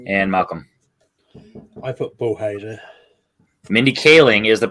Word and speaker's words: Mindy Kaling: Eric darling okay and Malcolm I put bohizer Mindy Kaling is the pronunciation but the spelling was right so we'll